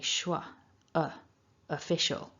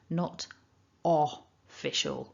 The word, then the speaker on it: official: is very common is over pronouncing that first vowel so remember it's a schwa official not official or maybe you might